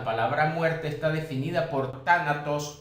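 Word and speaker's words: θάνατος: muerte está definida por tánatos o tanatos, como algunos les dicen. No olvidemos que esta letra griega en nuestro español sería un TH, pero se pronuncia como un DS.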